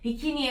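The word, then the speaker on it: bikini: 비키니의 호주 발음은 비키니. 이렇게 봐요. 비키니가 아니라 뭔가 K 뒤에 E가 한 4개 붙는 느낌의 발음으로 생각하시면 될 것 같아요.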